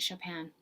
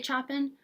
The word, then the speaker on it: Chopin: Emily Dickinson and Kate Chopin. Some people say Chopin. I go with the French pronunciation.